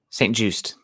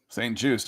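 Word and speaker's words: St-Juste: pronounce his last name Saint Juiced Saint Juiced okay just like it looks it's a cornerback to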